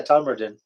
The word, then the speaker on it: Todmorden: yeah, Tommerton.